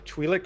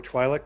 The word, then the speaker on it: Twi'lek: So Alani is a mid-20s Twi'lek or Twi'lek, depending on how you like to pronounce it.